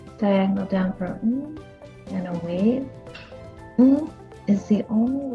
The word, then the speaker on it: は: Wa looks a lot like ha. In fact, it's the same exact letter, but because it functions as a particle, a different part of speech, it is pronounced wa.